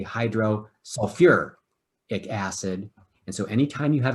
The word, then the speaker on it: hydrosulfuric acid: hydrosulfic acid okay now there's a couple of elements that when you write their names as acids they stick an extra syllable in there sulfur is one of them so i'll see although theoretically hydrosulfic acid is exactly correct they actually say hydro sulfur acid and so anytime you